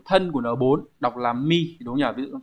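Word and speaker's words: 身: Kanji điển hình chúng ta có chữ thân của N4 đọc là mi đúng không nhỉ?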